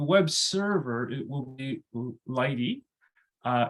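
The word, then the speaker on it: lighttpd: me think the web server it will be Lighty uh it's spelled by httpd but it is pronounced Lighty in general um and kyber and lithium will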